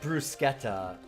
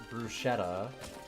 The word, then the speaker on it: bruschetta: Like, once you know that it's bruschetta instead of bruschetta, people will, if you